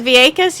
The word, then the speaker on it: Vieques: I mean, I know you're in Vieques and you're having a great time, Vegas, but that's- Vieques, isn't that how you say it? Vieques, yeah.